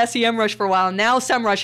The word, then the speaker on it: Semrush: but i'm gonna talk about a competitor um semrush had this big thing about how do you pronounce our name and we've been through this